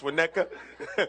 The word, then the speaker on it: Winnetka: from from I don't even know how to pronounce it from Winnetka right it's Winnetka it's a long journey from Winnetka buddy and